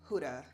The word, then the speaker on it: Huda: One thing I absolutely adore about Huda Beauty, Huda, because I feel like I've heard other people pronounce it and I've been pronouncing it wrong.